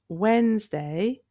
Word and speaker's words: Wednesday: à prononcer est mercredi Le premier 'd' et le deuxième 'e' sont muets On dit donc 'Wensday' et non 'wed nes day' Pour distinguer mardi et